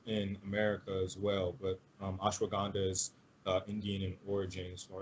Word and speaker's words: ashwagandha: little bit - and I hope saying this right ashwagandha yes you are saying it right medicinal there's a Chinese